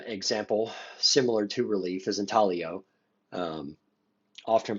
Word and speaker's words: intaglio: African Americans another example similar to relief is intalio um often pronounced intaglio but it's it's actually pronounced intaglio um these are areas below the surface that